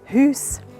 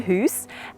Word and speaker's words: Hüüs: And in Swiss German, they would pronounce it Hüs, in the Hüs.